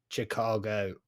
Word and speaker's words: Chicago: to say it is the chicken in the car the car won't go that's how you say Chicago but like if you